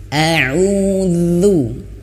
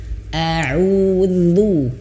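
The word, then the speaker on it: أعوذ: A'udzu ya. Dan kemudian harus perhatikan juga ya, itmamul harokatnya harus diperhatikan. Apa itu itmamul harokat? Itmamul harokat itu adalah kesempurnaan daripada harokat. A'udzu.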